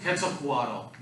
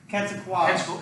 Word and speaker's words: Quetzalcoatl: Quetzalcoatl. Quetzalcoatl.